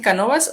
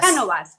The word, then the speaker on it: Cánovas: Canovas, ¿está bien tu apellido así, Canovas o Cánovas? Cánovas, Cánovas, sí, Cánovas.